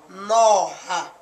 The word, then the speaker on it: noga: Another example in the Setswana word for snake, noga, and is pronounced noha.